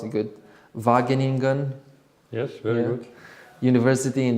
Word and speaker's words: Wageningen: He studied economics and consumer science at I hope I'm gonna pronounce it good, Wageningen.